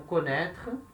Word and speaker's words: connaît: Lembrando que independente se ele está com acento ou sem acento, a pronúncia é a mesma.